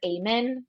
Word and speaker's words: Amen: mental health should follow this guy named Dr Ayman it's spelled like amen um like if you were praying but it's Amen um and he makes